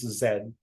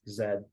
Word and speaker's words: zed: letter Z it's it's Zed okay they will never pronounce letter z as letter Z it's always Zed okay r a z